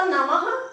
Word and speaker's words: नमः: नमस्कार करते तो नमः, नमः बोलते, गुरुवे नमः बोलते कि नहीं बोलते, तो नमः के पीछे पहला तो प्रातः, फिर नमः। उच्चारण ह के जैसा होता है पर बिंदी का उच्चारण भी ह जैसा होता है।